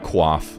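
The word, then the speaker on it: coif: I actually I learned I learned recently that this is called a qua I don't know why it doesn't share like any letters with what I think qua would sound like but allegedly it does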